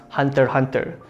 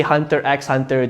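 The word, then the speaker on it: Hunter × Hunter: second in no particular order I would suggest hunter hunter some people say hunter x hunter just because this axe in the middle but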